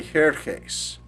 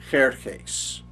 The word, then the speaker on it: Jerjes: idioma persa Hashayarash, pero fue conocido por los griegos y en la historia hasta ahora como Jerjes, solo que los griegos lo pronunciaron Jerjes, Jerjes, con el X en el griego, ¿ok? Jerjes, lo que nosotros decimos Ji en griego, ¿verdad?